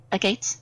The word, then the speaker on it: agate: have to have any gates give me what a gates a gods a gate how do you pronounce it i do believe it's pronounced agate